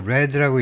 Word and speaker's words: read: 그리고이 read는 여기서 레드라고 읽어야 되고 과거겠지요. 왜냐면 주어가 30단수인데 s 안친 거 보니까 과거임을 알 수 있어요.